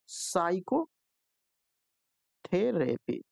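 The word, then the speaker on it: psychotherapy: है प्रोनंसिएशन होता है साइको थेरेपी इसे पढ़ेंगे ठीक है अब इसमें जो है पी का जो है हम नहीं किए हैं ठीक है प यहां पर साइलेंट दिखाई देता है तो ये आपका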